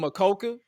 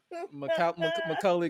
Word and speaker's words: Macaulay: I could not pronounce his name to save my life. I was about to call him Makoka, like Makoka. I'm about to say Makoke, but I'm like, let me get you to pronounce it. Macaulay Culkin.